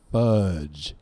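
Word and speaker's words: Fuudge: is a band called fudge and I say it like that because there there's a few U's in there couple U's F uu so is there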